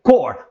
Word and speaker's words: Corps: Então quando tem esse S-dinha para corpus, né? Você apenas pronuncia cor para não atrapalhar e não dar um sentido diferente àquela expressão.